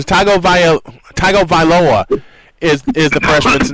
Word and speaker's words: Tagovailoa: Tua Tagovailoa is the freshman's name. I'll just say yes. I'm looking at the pronunciation. Tagovailoa is the freshman's name.